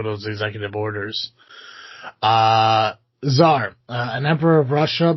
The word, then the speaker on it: czar: uh Zar uh an emperor of Russia before 1917 which uh that is spelled TSA R.